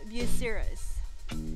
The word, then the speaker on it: Bucyrus: That word is called Bucyrus.